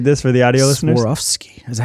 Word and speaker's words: Swarovski: Swarovski. Is that how you say it? Yeah, Swarovski.